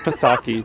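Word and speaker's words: Psaki: saki was talking about i think it's pronounced pasaki there's a circled back there's a p in her name it makes a pus sound i figured it was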